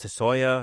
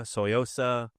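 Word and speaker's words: Tsuyosa: I have the Citizen uh is it Toya? Soyosa. There you go. The second one.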